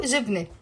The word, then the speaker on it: جبنة: فيو جبنة. Now جبنة is a feminine word. It has a T مربوطة and the T مربوطة is silent.